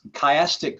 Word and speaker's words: chiastic: kind of structure called chiastic structure and it's spelled CH IA stic chiastic and it comes from the Greek letter ki CH I or Chi sometimes it said and is actually in